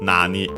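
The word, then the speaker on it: なに: And yes, expected, it's accented on the first syllable, just like nani, nan on its own.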